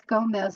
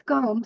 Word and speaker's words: Gomes: have to pronounce my last name right because a lot of people think it's Gomez, and that's really cool, but it's Gomes. It's Portuguese, and my family's going